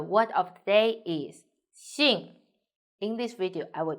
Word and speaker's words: 姓: The word of the day is Xìng. In this video, I will teach you how to pronounce it, how to write it, and how to use it.